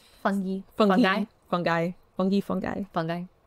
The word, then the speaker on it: fungi: Fung fungi fungi fungi fungi like nuclei yeah yeah I think